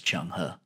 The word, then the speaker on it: Zheng He: the sake of the video we're going to pronounce his name as chung huh any man who commanded a fleet so massive